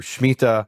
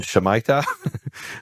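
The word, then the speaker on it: שמיטה: and this is what we call it Hebrew shmita this became very popular a few years ago in the u.s. under the mispronunciation shemitah but it's mita which is also called the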